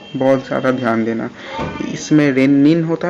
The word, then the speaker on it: rennin: double N को बहुत ज़्यादा ध्यान देना, इसमें रेनिन होता है, इसीलिए मैं कहता हूँ कि इसको प्रोनाउंसिएशन में ही आप रेनिन बोलो, ना कि रेनिन बोलो, क्योंकि अगर आप